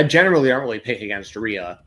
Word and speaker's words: Rhea: Rio, or not Rio, sorry. That's kind of how to say it. Rio, Yeah. Rhea Ripley and Io Sky against Asuka and Kairi Sane, Kabuki Warriors.